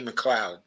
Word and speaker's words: McLeod: Jamie McLeod. It's pronounced. McLeod, yeah.